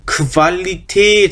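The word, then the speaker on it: Qualität: 그래서 얘는 kvalitet 하고 있습니다. kvalitet. 역시나 tate에서 길어지는 발음이죠. kvalitet 이렇게 kvalitet 그쪽에다 강세 찍어서 kvalitet quality죠.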